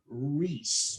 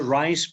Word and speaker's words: Rice: well we have michael reese michael my pronouncing your last name properly michael it's michael rice but it's perfectly fine